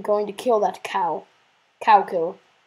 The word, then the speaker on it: Kow Ciller: Cow kill. Spelled with a K. K-O-W. Cow. Cow kill. And the kill is spelled with a C. So it would really be cow kill, but who cares?